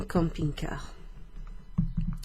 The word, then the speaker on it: camping-car: En camping-car. Camping-car. Camping-car. Two English words there, but pronounced with a French accent.